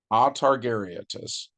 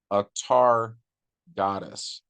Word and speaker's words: Atargatis: the mermaids is Lorelei otargaritas um they said it wrong Lorelei akhtar goddess excuse me a-t-a-r-g-a-t-i-s her other name is salarian carnazier